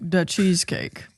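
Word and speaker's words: Dachezkake: This is from the the cheesecake pronounced like the cheesecake.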